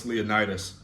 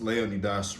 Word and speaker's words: Leonidas: our boy alex leonitis properly pronounced Leonidas recently just dropped a